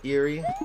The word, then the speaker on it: Eerie: believe I'm 99% positive they're called I like eerie well maybe that is the proper pronunciation is eerie I always just prefer